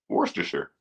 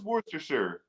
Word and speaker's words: Worcestershire: Worcestershire. That's not right. What is it then? Not that. It's Worcestershire Sauce.